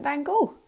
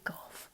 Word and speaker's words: Van Gogh: an artist called Vincent Van Gogh. Sometimes he gets called Vincent Van Gogh. Nobody can decide how to pronounce it properly, but I like to say Gough, so that's how we'll do it today.